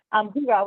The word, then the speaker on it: hygge: It's this first word is pronounced If you all could just mute, okay. Hygge, which loosely translates as coziness.